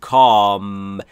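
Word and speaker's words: calm: داون کام یعنی آرام قبلا گفتیم عش ناخواناست و آشم آ کشیده است کام مثل تاک اینجا کام دون او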